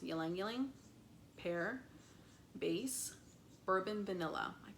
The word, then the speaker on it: ylang ylang: Green notes, young, I believe it's pronounced ylang ylang.